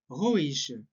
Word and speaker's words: ruhig: Et on dit du bleibst sehr ruhig. Du bleibst sehr ruhig. IG se prononce comme ch. Ruhig, ruhig.